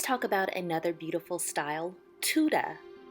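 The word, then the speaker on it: Tudor: about another beautiful style Tuda spell t-u-d-o-r but pronounced Tuda so Tuda houses are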